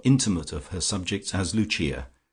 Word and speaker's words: Lucia: of her subjects as Luchia, pronounced of course in the Italian mode luchia, the wife of Lucas.